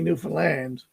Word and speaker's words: Newfoundland: I was going to say to you, the easy way to say Newfoundland, if you do the rhyme, I understand Newfoundland.